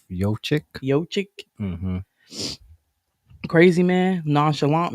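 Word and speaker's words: Jokić: How do you say his name? Jokic, right? Yochik.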